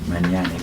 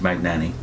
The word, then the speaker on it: Magnani: watchtower was Dewayne Magnani I suppose the Italian pronunciation would be many Annie but as far as I know it's pronounced Magnani and Dwayne Magnani was doing brochures and entire